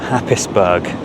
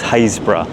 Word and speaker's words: Happisburgh: this time I am pronouncing the name of Happisburgh correctly. I know how annoying it can be when people mispronounce the name of somewhere. But yeah, it's not Happisburgh. As many times as you say it, it's Happisburgh.